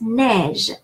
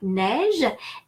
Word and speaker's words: neige: A in French, and the third type of spelling of the sound A is EI, like neige, and the fourth is final EZ, final ER, like manger, j'aime manger, or vous mangez.